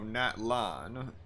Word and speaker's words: Natlan: So, Natlan, that's how it's pronounced.